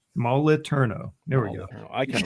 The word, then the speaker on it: Moliterno: Jeff was slightly mispronounced. No, Moliterno. Moliterno. Moliterno.